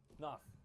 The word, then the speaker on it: Pnath: Pnath. Pnath. Vale of Pnath. Pnath? Yeah, like rhymes with goth.